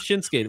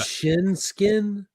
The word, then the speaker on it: Shinsuke: Did you see the match with Shinsuke? Nick AJ Styles looks like a a mannequin to me. But did you see the match with Shinsuke which was awesome?